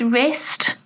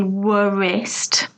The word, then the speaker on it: wrist: these are wrinkles again with wrist we don't pronounce the w we don't say worst that W is silent thumb B is silent